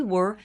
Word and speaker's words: were: Cuidado com essa pronúncia. Were, bem fechadinho, como se tivesse um acento circunflexo.